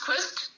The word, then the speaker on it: Qvist: Well, yeah, with it being, it's pronounced Qvist, but with it being spelled QVIST, people all seem to think, no, but it should be QU. But that's an English rule, not a Danish one.